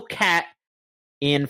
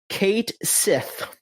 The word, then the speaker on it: Cait Sith: uh that they they said that the the the the little cat in Final Fantasy 7 Rebirth, it name is going to be pronounced Kate Sith in the game, which if you know anything